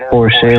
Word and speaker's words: Porsche: Like the Americans, they read it as Porsche only, but the correct pronunciation from Europe and like especially Germany, it's always been Porsche.